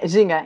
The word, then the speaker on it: Ginga: Or Ginga, however you pronounce it. Yeah, Ginga, yeah.